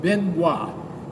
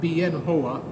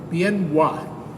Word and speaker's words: Bien Hoa: ended up in a big army base called Benoit it's pronounced b-i-e-n and then h-o-a many Americans seeing that name the in the print in the newspaper pronounced it bien HOA but the correct pronunciation has been bien why